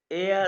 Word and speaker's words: er: एयर नहीं, ई को, एर को नहीं, ईको ई को ईको सिंपली ए कहते हैं।